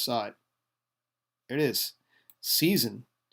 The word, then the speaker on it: seisin: It's also spelled seisin without the S, since it's pronounced like with a Z. Also termed vesture seisin, uh in Scots law, and in seisin.